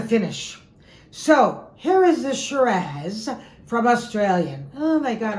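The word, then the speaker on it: Shiraz: and an original French okay what is this shz from Australia that's how you pronounce it like pizaz shz it's the famous SE raw grape of the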